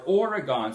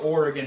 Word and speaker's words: Oregon: Oregon or Oregon? Someone in Oregon said, please do not pronounce it Oregon. It's Oregon. We're still here. We're not gone. So I'm going to try to fix that. Oregon, not Oregon.